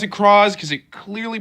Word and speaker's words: Cross: of coming writer crawls and yes I'm gonna pronounce it cross because it clearly pronounces it as crosses in